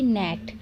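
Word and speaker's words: gnat: तो यहाँ पर आप देख रहे हैं जी के बाद अगर एन होता है तो जी साइलेंट होता है, जैसे कि नेट।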